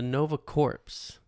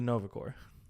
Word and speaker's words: Corps: if nebula joined the Nova corpse the Nova cor it's it says Nova corpse yeah that's how it's spelled but you don't pronounce the P corpse corpse corpse corpse